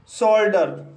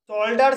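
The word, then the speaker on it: shoulder: इसी तरह से शोल्डर, शोल्डर शब्द में भी ओ यू के बाद एल आया है, इसलिए यहाँ पर ओ यू का उच्चारण ओ हुआ है, इसलिए इसे शोल्डर पढ़ते हैं।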